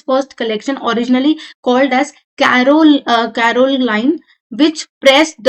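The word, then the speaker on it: Corolle: और तो जो हंग्री फॉर गुड क्लोथिंग थी वहां पे उन्होंने क्या अपना कलेक्शन निकाला जिसको हम बोलते हैं कैरोल लाइन। ठीक है? तो ये आपको स्पेलिंग पता होनी चाहिए।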